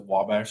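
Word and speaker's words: Ouabache: Obachi, Obachi. Some people will pronounce it Wabash State Park. which is the actual correct way to say it, but nobody does it.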